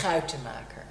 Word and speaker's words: Schuitemaker: difficult to pronounce Oh how do you pronounce your surname how to market there you are try repeating that at home